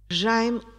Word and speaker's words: Jaime: Jaime, o ditongo ai, tem um eco. E um eco que é quase consonântico.